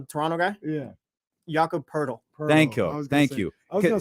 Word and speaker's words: Poeltl: I legitimately skipped that one because I get his name wrong every time. I was talking about the Toronto guy. Yeah. Jakob Poeltl. Thank you. I was gonna say Portal, but it's Jakob.